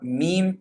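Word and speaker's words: م: And then the letter mim, again, same thing, closing the two lips.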